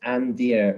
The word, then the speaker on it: Andeer: misheard my name so instead of Andrew he thought it was and so it's just a and then spelled like you would see in the forest okay and then Stephanie